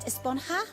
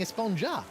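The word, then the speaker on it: Esponja Grande: Actually, it's pronounced Esponha with an H sound at the end. Really? But we've all been saying Espongja.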